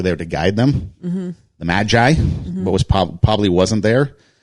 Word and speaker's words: Magi: There were probably more than 3 kings, or actually wise men or magi. How do you pronounce it? Magi. Yeah, they were magi. Not magpie, not magis.